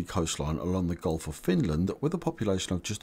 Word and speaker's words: Finland: its borders Norway Russia and Sweden and you pronounce Finland like this Finn land Finn land Finland subscribe for more videos from